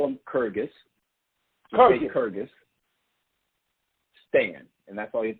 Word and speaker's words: Kyrgyzstan: No, just Kyrgyzstan.